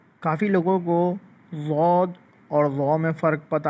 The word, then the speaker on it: ضا: Proper ہو جائے۔ ضاد۔ اور جب ہم اس کو پڑھیں گے ضا کو تو وہ اس طرح پڑھتے ہیں ہم ضا ضا، یہ بھی موٹا اور نرم کر کے پڑھا جاتا